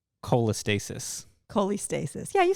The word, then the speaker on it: cholestasis: a good one yeah okay okay can you pronounce it probably not but you'll know what i'm saying cholestasis cholestasis yeah you said it right good job all